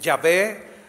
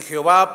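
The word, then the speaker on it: Yahweh: el nombre de Dios el más acercado dicen los eruditos es yahwe yahwe verdad Pero bueno este así para poderse pronunciar algunos dicen yahvé otros dicen Jehová pero es nada más añad unas vocales para que tenga pronunciación pero lo que él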